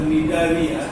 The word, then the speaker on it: Cnidaria: One is called as Cnidaria, other one is known as Ctenophora. In both these terms you mark there, in phonetically C is the silent.